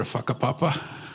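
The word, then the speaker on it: whakapapa: to go see our fakapapa right our family that's what family it's not a swear it's family but that's how they say it in Maori but every chance I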